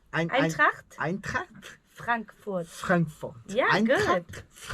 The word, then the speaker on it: Eintracht: I pronounce it right. Eintracht Eintracht Frankfurt.